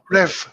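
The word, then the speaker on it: REWE: number three will be raway how do you spell that r e w e yeah rev rev yeah and then the number that will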